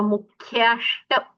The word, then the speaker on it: मुख्याष्ट: सम्यक्त्व मुख्याष्ट, मुख्य अष्ट, मुख्याष्ट, सम्यक्त्व मुख्याष्ट।